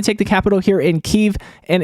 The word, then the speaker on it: Kyiv: the capital here in Kyiv. And it's not Kiev, it's Kyiv. A lot of people have been saying Kiev, and it's not Kiev, it's Kyiv. That's how they say it there.